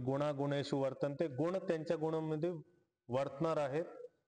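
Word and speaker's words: वर्तन्त: असं असं होतं तर इकार पुढे असताना ए गायब झाला वर्त त्यामुळे उच्चारण करताना गुणागुणेशु वर्तंत असं म्हणायचं मत्वा सज्जते मत्वा मत्वा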